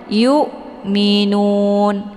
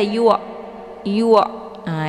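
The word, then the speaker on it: يؤمنون: Jadi bacanya yukminun ditekan saja tapi tidak sampai mengalir ke atas kerongkongan bawah ini ya huruf hamzahnya yukminun. Jadi jangan dibaca yu yu ah itu bacaannya salah karena sudah mengalir ke huruf ain.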